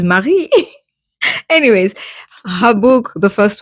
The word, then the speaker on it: Marie: pronounce it in English cuz what Mary? No this is not Mary this is Marie.